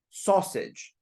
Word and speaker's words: sausage: sausage no sausage s remember remember the sound is short o sausage sausage saus sausage